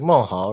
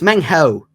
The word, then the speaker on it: Meng Hao: It's like Mohal, right? Yep. Okay. Nah, it's Meng Hao.